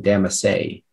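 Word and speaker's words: damassé: The dinner table at the party was set with a lavish display of candles and a shimmering damase.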